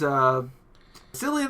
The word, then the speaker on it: Cillian: We have Jim, who is Cillian Murphy, our Cillian boy. Murphy. Cillian. It's Cillian. I've always called him Killian, and I'm never going to be able to pronounce it.